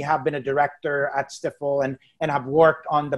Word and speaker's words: Stifel: But we are Stifel.